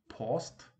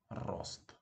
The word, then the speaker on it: рост: What was that? Post? Maybe poked? Rocked? No. It's just rost.